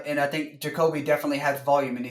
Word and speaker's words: Jacoby: Jacoby, yes.